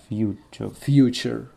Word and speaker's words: future: Да, Cyber sent from the future. Future. Туре читается в конце как че. Future.